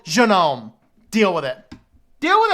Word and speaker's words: GNOME: about I will no longer be calling it gnome I will not be calling Agra gnome I will be calling it Janome and then we are going to say Stallman